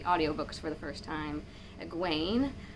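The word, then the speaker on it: Egwene: for the first time aguain which can kind of sound like gwen or gwenevere as well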